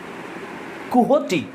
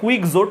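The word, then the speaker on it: Quixote: এরপরে আমরা দেখব, আর এই যে আমি এটা লিখছি দেখো, ডন কুহটি, এটার উচ্চারণ হচ্ছে কুহটি, এরকম উচ্চারণ হয়। এটা লেখা দেখে মনে হচ্ছে কুইক জোট, কিন্তু উচ্চারণ হবে কোহটি। তো ডন কোহটি হচ্ছে একটা কমিক ক্যারেক্টারের নাম।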